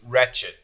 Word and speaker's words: wretched: is two words wretched a lot of people wanted to write it without the W but actually there is a w it's a silent W wretched you guys did great